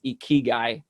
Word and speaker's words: ikigai: in japan you have a philosophy uh it's pronounced ikigai ikigai is made up of two japanese words